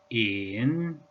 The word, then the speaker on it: 乚: The pronunciation is tone number 3. In.